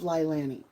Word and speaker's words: Leilani: He is the boyfriend of Lilani.